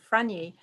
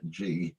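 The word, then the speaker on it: Frangy: Fragny. No, they've spelt it wrong there. Have they? Yes, it's Frang.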